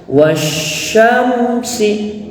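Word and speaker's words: والشمس: disebut dengan idgam sysiah jadi cara membacanya itu ditekan dulu was ya baru Syam wasyamsi ya Nah di sini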